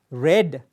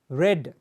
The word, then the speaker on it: read: past context we say red the spellings are the same ready but still we pronounce it as red like the color red red read in the